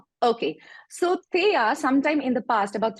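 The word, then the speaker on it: Theia: there was apparently a mars-sized uh body called Thea which impacted how do you spell it how do you spell it t-h-e-i-a t-h-e-i-a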